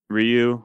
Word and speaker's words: Ryu: Ryu.